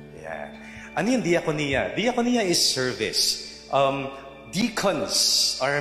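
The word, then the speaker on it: διακονία: See, you don't pronounce it that Jaconia. Gagalit yung mga Greeks kapag narinig na yan. But you say diakonia. Yeah. Ano yung diakonia?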